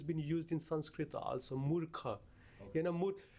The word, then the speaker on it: murkha: How do you spell that? M-U-R-K-H-A.